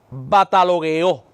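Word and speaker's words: βατταλογέω: Esta expresión viene de un término en griego eh que se pronuncia batalogueó.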